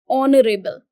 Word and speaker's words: honorable: his activities arouse suspicion now this word is pronounced as honorable your at is a silent now if it